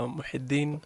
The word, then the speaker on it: Muhyidin: Muhyidin. Did I say it correctly, Dr.? It's pronounced Dr. Muhyidin Mohamed.